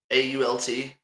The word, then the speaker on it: Alt: So, it's there's a lot, you know, you got Chris, what how do you say Alt A L T?